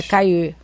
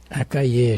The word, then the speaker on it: Caillé: É Caillé. Caillé, gente. Dois L's em francês não se pronuncia. Caillé, tem que fazer aquele biquinho, doutor Caillé.